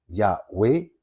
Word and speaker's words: Yahweh: Alors que Yahweh, il n'y en a que 2, Yahweh, sujet-verbe, je suis.